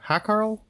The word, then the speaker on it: hákarl: pronounce I understand yeah it's like ha a with an uh accent k a r l h hackl h HCK I don't